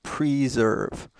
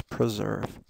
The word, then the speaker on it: preserve: a verb and what notice that this is a short I sound not preserve okay um the the prefix pre um means before but PR doesn't mean anything about before so it's preserve uh steps are being